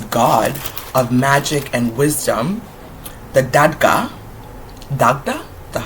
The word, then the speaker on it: Dagda: The Dagda, that's how you say it.